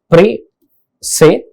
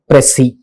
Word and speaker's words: precis: I'll tell you, because it is a pre-say. It's a two-syllabic word.